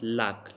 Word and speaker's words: lac: For example, lack. But here we will pronounce lack.